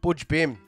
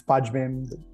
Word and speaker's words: Budj Bim: it's good it's good Butch Bim uh is that how you say it that's how you say it some some people will say no it's budge them I think um Butch bin budgeting it's nearly tomato tomato yeah yeah yeah yeah but